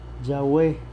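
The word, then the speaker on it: Yahweh: tetra grama tone es cómo se pronuncia se pronuncia yagüe yagüe yagüe yagüe sé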